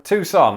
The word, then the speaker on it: Tucson: so we're going to just confirm that that is indeed how it is said tucson tucson 100 so far okay